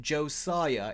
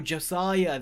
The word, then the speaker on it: Josiah: And okay, and my name, and he says also my name is pronounced Josiah Is Not Funny. Just because you have mispronounced it before, no offense. None taken. I think I should be saying to you, no offense. It always looked like Josh. Oh, Josiah. There, I see the IH.